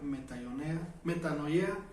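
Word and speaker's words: μετάνοια: No, yo he venido a llamar a los pecadores que necesitan arrepentimiento, y arrepentimiento se pronuncia metanoia, o cambia tu forma de pensar.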